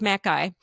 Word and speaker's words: Mackay: Then a woman named Elsie Mackay, sorry, it's pronounced Mackay, who learned to fly in 1923.